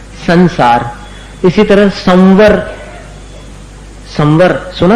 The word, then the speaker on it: संसार: इसी प्रकार संसार अब संसार में स के ऊपर का जो अनुस्वार है उसका कैसा उच्चारण है? न के समान है क्योंकि आगे सार है उसको मिलाना है स में संसार इसी तरह संवर संवर